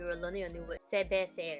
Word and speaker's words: cerveza: learning a new word, sebecer. It's actually pronounced, okay, I'll put it here. It's actually spelled. Another way of pronouncing it is bebeta. So there are different ways of pronouncing the C letter.